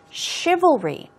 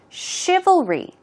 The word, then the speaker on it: chivalry: pronounce so let's take a look at the pronunciation chivalry this part is difficult oh oh and then going on to re I'll read all three let's try three times chivalry chivalry chivalry good job okay so let's quickly